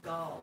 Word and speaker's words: Gal: Oh, Gail Gadot's name is pronounced Gall, like you've got a lot of gall. Gal Gadot.